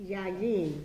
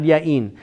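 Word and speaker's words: יין: Yayin. Yayin is correct, not yain.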